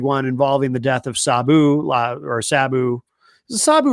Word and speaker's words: Sabu: it's a big one involving the death of Sabu or Sabu. Is it Sabu or Sab? I keep hearing it pronounced both ways.